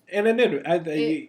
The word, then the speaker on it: anonymity: Because like, you know, I find people would use Craigslist, especially with fetishes, because of the, I can't pronounce this word, anonymity, or when you're anonymous, Anonymity.